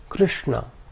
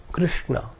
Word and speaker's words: Krishna: The second is a cerebral sh. This is the sh of Krishna, Krishna.